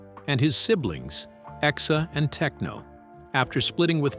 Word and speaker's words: X: Born on May 4th, 2020 in Los Angeles X, pronounced ex Asha 12.